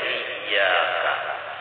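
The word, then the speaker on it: إِيَّاكَ: Jangan kada bertasydid membacanya. Nang kebanyakannya kada bertasydid membaca iyyaka. Itu banyak nang kada membaca bertasydid iyyaka na'budu wa iyyaka nasta'in.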